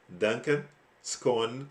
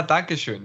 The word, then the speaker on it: Dankeschön: I think it's I'm maybe mispronouncing, but Fernando says Duncan Scone Markus. Ah, Dankeschön.